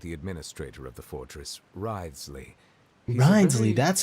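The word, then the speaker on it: Wriothesley: personal dealings with the administrator of the Fortress ridesley reminds me that's how you say his name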